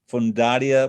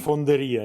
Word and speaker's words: Fonderia: So it's called the Pontificia, I think I pronounced that correctly, Fondaria Marinelli. In other words, the papal Pontificia foundry, Fonderia. Yeah, yeah. Pontificia Pontificia Fondaria. Fonderia. Yeah, exactly.